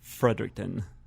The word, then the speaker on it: Fredericton: I blew it is it Frederick surfer Tocqueville fredericton Frederick pun Frederick in spell that Frederick and in ton o fredericton Frederick